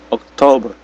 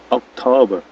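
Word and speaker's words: October: R-nya enggak dibaca ya. Oktober. Oktober.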